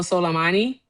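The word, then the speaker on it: Soleimani: We killed General Solommani, right?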